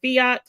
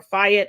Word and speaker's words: Fiat: known them previously Chrysler Fiat or Fiat I've heard it pronounced both ways so 7 000 additional